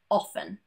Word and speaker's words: often: But there are some random words too that also have a silent T. Most commonly, asthma, Christmas, mortgage, and often.